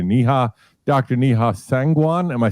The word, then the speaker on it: Neha: You could follow her at Dr. Neha, which is Dr. Niha.